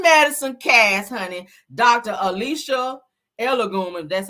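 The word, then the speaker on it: Egolum: Alicia Elogum, that's how you say Elogum, or how you say her name, child.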